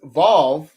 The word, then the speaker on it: vav: This is pronounced as vav in modern Hebrew. In ancient Hebrew, it is wall.